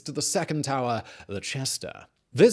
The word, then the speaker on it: Cesta: the 2nd tower, the ‘Cesta’ [Note: Italian pronunciations are in play. ‘Cesta’ sounds like ‘chesta’] This was used as a main barracks and lodging quarters for the garrison of the castles.